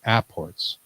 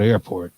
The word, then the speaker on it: apport: that he talks about apports. We always say it wrong. It's not airport. No, It's apport.